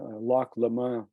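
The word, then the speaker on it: Lac Léman: right next to the uh that's Lake Geneva Loch Loma it's pronounced in in Switzerland but it's uh Lake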